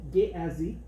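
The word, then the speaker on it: Guéhazi: Le serviteur de Élisée, il s'appelait Géhazi, je crois que c'est la bonne prononciation en français, Géhazi.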